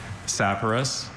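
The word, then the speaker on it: saporous: Saparus is the only pronunciation I have.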